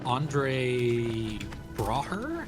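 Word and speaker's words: Andre Braugher: Oh, uh, Andre Braer, I believe his name is pronounced.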